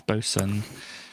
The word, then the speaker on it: boatswain: quite this word but it looks like it's spelled boat swain but it's boson because english especially uk english can be a bit uh interesting like that are you very politely